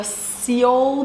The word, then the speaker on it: Seoul: All right, so I have the Seoul Bowl.